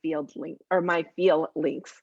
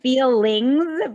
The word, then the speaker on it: FeelLinks: and creator of My FeelLinks. Geez, I'm having a hard time with the pronunciation of stuff today. it sounds like feelings, but it's feel links, right?